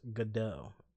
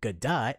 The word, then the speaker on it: Godot: whole game already but gadot's name is pronounced godot see see greg why didn't you say that you never told me that you just always went good dot and i'm like how